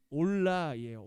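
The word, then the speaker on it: עֹלָה: 히브리어로는 올라예요. 올라. 네. 히브리어의 이 발음이랑 우리나라 발음이랑 뜻이 좀 비슷해요.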